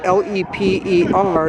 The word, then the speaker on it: Lepre: And I want to thank the Falcons for helping me pronounce his name, Leper. It's like a French pronunciation, Juan Lepre.